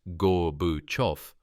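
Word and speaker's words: Gorbachev: In 1988, as United States Soviet relations thawed under Gorbachov's pronounced Gore Buof reforms, Vulov was included in a prisoner exchange.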